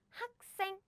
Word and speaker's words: 학생: So this one should be pronounced as in 생, 생, as in 학생, 학생, which is you, student.